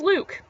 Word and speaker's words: Luc: Anyways, brother's name is Luke, except being the Franco, from considering that my dad's all from family's all from Montreal, he's Franco, so it's spelled L-U-C instead of L-U-K-E.